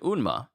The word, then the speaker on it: Unma: But since then, First Queen Unma's guards. Is that Unima or is it Unma? It's Unma. I've been saying it wrong.